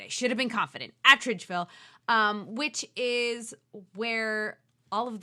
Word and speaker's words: Atteridgeville: takes place in the South African ghetto of Atteridgeville. Is that what it's called? Sure. Yeah, I said it right. I should have been confident. Attridgeville, which is where all of the black people were put during apartheid.